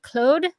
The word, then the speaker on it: Claude: So, is it more like is it Claude? Do Is that how you would maybe say it? That's the real pronunciation.